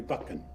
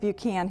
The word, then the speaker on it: Buchan: young lady and buckin is that how you pronounce the last name they pronounce it that way in Scotland but we pronounce it Buchan here in America right and you're a